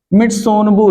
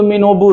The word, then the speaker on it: Mitsunobu: मित्सुनोबु reaction, मित्सुनोबु reaction. हाँ, अब पढ़ने के लिए टीएस को साइलेंट कर सकते हैं, तो कहीं कहीं से आपको टीएस अगर साइलेंट आप करते हैं तो मिनोबु रिएक्शन, मिनबु रिएक्शन, मतलब जो आप चाहें वह